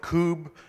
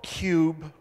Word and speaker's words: kube: obvious pronunciations you know for the first half we can start with Kubb or cube or coup bay or Kubb a and if you're under 30 those bottom two are sound different for those